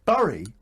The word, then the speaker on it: Bury: and a win for burry which is re bury oh you're just being ridiculous that's how you say it is it is it